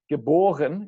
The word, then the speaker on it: geboren: Born, geboren. In German, the emphasis is still on the B, the second syllable.